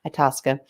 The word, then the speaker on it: Itasca: A lot of people don't know how to say her name, but Itasca.